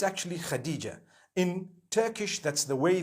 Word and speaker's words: Hatice: In Turkish, some people spell it HATICE. I would say Hatis for that. No, it's actually Khadija.